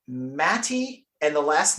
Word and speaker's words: Mate: when you read it in English it reads mate remac like we're used to pronouncing remac but apparently the formerly Yugoslavian born